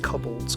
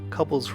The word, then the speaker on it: kobold: said I don't pronounce kobolds right. Do you pronounce it kobolds? Like cobalt? I suppose that makes more sense, but yeah, I've always said kobolds, so I'm going to continue to say kobolds.